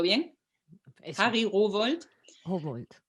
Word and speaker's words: Rowohlt: que es un genio, Harry Rowohlt, vamos a pronunciarlo bien, Eso. Harry Rowohlt, Humboldt.